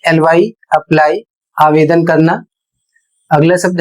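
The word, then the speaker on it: quay: अगला शब्द है ई वाई ई आई इसका अर्थ होता है आंख। शब्द है क्यू यू ए वाई। इसे पढ़ा जाएगा की और इसका अर्थ होता है बंदरगाह।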